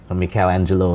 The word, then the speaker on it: Michelangelo: Oh, you know, Leonardo da Vinci, you know, Michelangelo, Michelangelo, I mean, you pronounce it the Italian way, right?